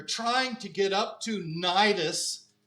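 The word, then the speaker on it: Cnidus: to get up to nidus it's got a C in front but you don't say STIs you just say nidus is the way it's pronounced say how do you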